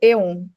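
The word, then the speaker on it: αἰών: usada no texto é o termo grego aon pronunciado Eon era usado na Grécia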